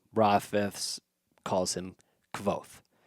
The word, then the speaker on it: Kvothe: We're talking about Kavoth. Kavoth. Um, there's been a lot lots of different ideas on how to pronounce his name. Rafs calls him Kavoth.